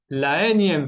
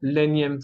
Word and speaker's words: la énième: Y la enésima, algo así, no me recuerdo, pero en francés se dice énième, ok, vamos a decir la énième fois y no l'énième fois.